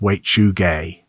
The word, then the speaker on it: Wechuge: The Dane-zaa called the thing Wechuge. It is pronounced Wechuge, and it is not a creature that comes out of the forest.